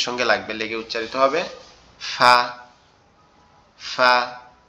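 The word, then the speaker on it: ف: ফাটা আমাদের জিহ্বার আগা। এই যে সরি আমাদের এই ঠোঁটের নরম জায়গা। ঠোঁটের পেট বলে এটা। এটা তো উপরের দুই দাঁতের সঙ্গে লাগবে। লেগে উচ্চারিত হবে। ফা ফা ফা আপনারা কি আমার কথা শুনতে এবং বুঝতে পারতেছেন?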